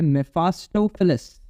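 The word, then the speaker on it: Mephistophilis: और एक है मेफा, जिसको मैं मेफा बोलता हूँ, लेकिन ये मेफा नहीं है, इसका नाम है मेफास्टोफिलस। ये स्पेलिंग है, मैं यहाँ पे लिख देता हूँ।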